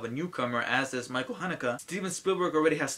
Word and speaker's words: Haneke: I learned how to pronounce his name! Michael Haneke for Amour, Ang Lee for Life of Pi, David O.